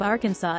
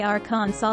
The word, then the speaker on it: Arkansas: outsells every other gin brand globally the pronunciation of arkansas is defined by the state legislature due to